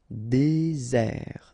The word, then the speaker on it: désert: Okay, remember final T not pronounced. Désert. And really this z sound just because you get one S between the two vowels.